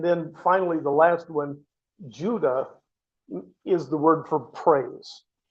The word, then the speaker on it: Judah: Uh, and then finally, the last one, Judah, is the word for praise. Something to keep in mind is there were no Jews. The word Jew literally tracks back to Judah and it's pronounced Yuda, but it's that that's where Jew comes from.